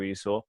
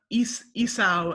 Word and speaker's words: Esau: We can go back to butts later, but the rhyme of Esau and now. So I guess it's pronounced Esau rather than Esau.